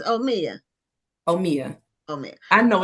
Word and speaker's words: Omia: But yeah, so they just pronounce it Omaya too. I'm like, no, it's Omia. It's Omia.